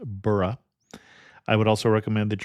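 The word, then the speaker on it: Borough: simply burrow market and it is not a New York burrow so it isn't pronounced Boro it's pronounced bah I would also recommend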